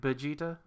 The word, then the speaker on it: Vegeta: It's like Vegeta.